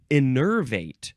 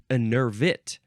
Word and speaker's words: enervate: Next is innervate. No, it is innervit. Vit, not vate, vit, because this is the first form.